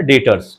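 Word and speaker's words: debtors: Sundry डेटर्स, sundry डेटर्स, B silent है ना, डेटर्स, ठीक है।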